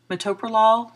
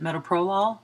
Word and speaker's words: metoprolol: bisoprolol is e beta metoprolol sometimes people people will pronounce that meta prolyl either way is fine the brands are lopressor